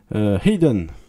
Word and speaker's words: Hidden: Alors, on ne cite jamais Hayden, je le prononce comme ça parce que c'est comme ça qu'il le prononce Jack Scholder.